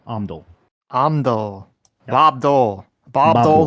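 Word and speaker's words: Omndull: Omdul.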